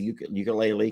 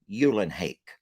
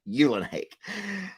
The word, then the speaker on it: Eulenhake: We've all said ukulele because it just looks like ukulele. And then she sent me an actual audio recording of her pronouncing her name. I played that for you all, and it was Eulenhake. Lester, I'm Eulenhake.